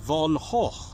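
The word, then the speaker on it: Van Gogh: I said it's pronounced Von ho and made a guttural sound because it's Flemish my wife flashing me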